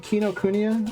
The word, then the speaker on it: Kinokuniya: It's called Kinokuniya, I think is how you pronounce it.